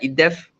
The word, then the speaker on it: IDDEF: We here at IDDEF, that's how we pronounce it.